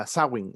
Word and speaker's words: Samhain: que habíamos hablado que se escribe samhain pero se pronuncia asa wing según la lengua original antigua de irlandesa principalmente este era un